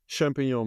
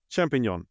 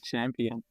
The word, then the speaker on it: champignon: Champignon, yeah, the French ones. I mispronounced it. I said champion mushroom.